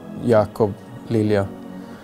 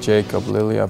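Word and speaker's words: Jakob Lilja: it's not really mispronounced you can say it in swedish you say yakov lilia but here in english it's more like jacob lilia because it makes it easier and the nicknames i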